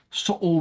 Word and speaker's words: subtle: Subtle with a silent B.